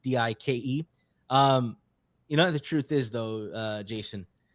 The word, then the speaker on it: Dyke: His last name is pronounced Dike.